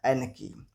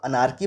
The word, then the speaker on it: anarchy: ANARCHY, एनकी। इस word के pronunciation में भी गलतियां होती हैं। कोई इसे अनारकी पढ़ता है तो कोई इसे अनारची पढ़ता है, लेकिन सही प्रोनाउंसिएशन है एनकी।